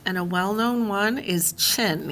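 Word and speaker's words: Qin: And a well-known one is Chin. Even though it's spelled with a Q, it's pronounced Chin.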